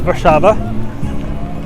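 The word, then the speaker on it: Warszawa: so that's how you actually say it is bashava and what's that little city i like that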